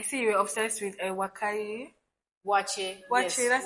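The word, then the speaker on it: waakye: Wache, Wache, yes, that's how they wache pronounce from it.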